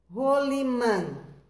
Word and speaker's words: rolimã: Rolimã. Rolimã, ó, tá no começo. Dá a impressão que ele tem o som de dois R's, mas não se começa a palavra com dois R's aqui, ó, tá?